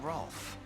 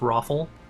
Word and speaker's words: Rolf: I take it you're the one they call Rolf. That depends on who's Excuse me, asking. it's pronounced Raffle.